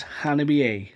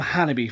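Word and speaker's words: Hanabie.: So, and it was Hannibal A, right? I've been calling them Hannibal for the longest time, but it turns out it's Hannibal A. Not Hannibal. It's Hannibal A.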